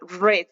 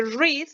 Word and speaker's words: read: Si ustedes lo ven, se escribe igual en pasado, R-E-A-D, pero se pronuncia red, como el color rojo cuando está en pasado. Entonces, en presente read, como con I, y en pasado read, como con E.